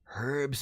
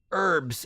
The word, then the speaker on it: herbs: Now there is only herbs and spices or herbs and pices depending on where you're from. If you don't pronounce the H in herbs or the S in Pisces, IT IS SUPER MARIO'S brother 32.